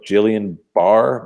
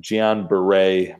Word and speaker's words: Guillain-Barré: Looks like it's spelled like Jillian Barr, but Guillain-Barré, my doctor friends are telling me, is the appropriate pronunciation.